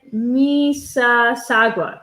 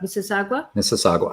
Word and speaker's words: Mississauga: all away no um random kid says it's pronounced mississauga mississauga mississauga say it all fast um brick girl